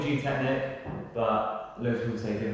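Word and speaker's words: Gtechniq: been using them or g technique i don't know how you say it some people say g technique some people say g technic it's probably g technic but loads of people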